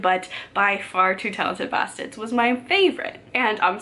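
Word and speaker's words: Bastids: And I'm sorry that I'm kind of butchering the name of that short story because I do not have a Maine accent, and it is spelled B-A-S-T-I-D-S.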